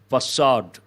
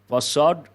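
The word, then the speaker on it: façade: careful with the pronunciation facade facade could be a French word it has two different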